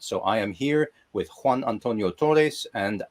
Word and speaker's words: Juan Antonio Torres: Pronuncia tu nombre. Que lo diga mi nombre. Juan Antonio Torres.